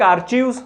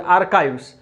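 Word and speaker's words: archives: Specialised institutions like आर्चीव्स और आर्काइव्स, pronunciation आर्काइव्स, and museums where established to preserve important records.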